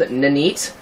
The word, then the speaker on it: Ninite: out why are you watching a video about nanite if you already know about nanite um so yeah the tool is called nanite um that's how i pronounce it it's n-i-n-i-t-e and let me just